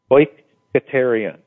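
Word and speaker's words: οἰκητήριον: It's O-Y-K-A-Y-T-A, well, this is how, at least phonetically, how you would pronounce it, O-Y-K-A-Y-T-A-Y-R-E-E-O-N, oikoterion.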